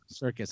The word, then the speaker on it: Serkis: Andy Serkis. Circus. Yeah, Serkis.